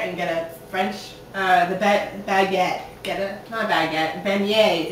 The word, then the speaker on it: beignet: Beignet.